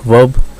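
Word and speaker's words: verb: वर्ब में are silent, वर्ब, और adjective में डी साइलेंट यानी एडजेक्टिव।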